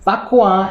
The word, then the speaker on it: bak kwa: Hi guys, Bak Kwa, as pronounced in Hokkien or Rogan in Mandarin, is the Chinese version